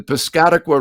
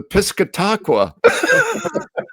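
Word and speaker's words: Piscataqua: The first night I was on the air in Portsouth, uh on HB, uh instead of saying the Piscatqua River, I said the Piscatacqua.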